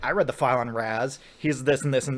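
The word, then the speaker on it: Ra's: and he's like I read the file on Raz he's this and this and this and he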